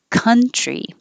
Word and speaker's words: country: Country. The vowel is like up.